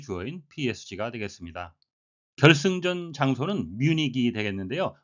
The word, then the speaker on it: Munich: 결승전 장소는 뮤닉이 되겠는데요. 우리말로는 뮤이라고 하는데 이것은 독일식 철자의 발음이고요. 영어식 발음은 뮤닉이 되겠습니다.